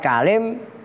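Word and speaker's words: كَلِم: Lafadz kalim bacanya bi fathil kafi dengan dibaca fathah kafnya, wa kasril lami dan dibaca kasroh lamnya kalim.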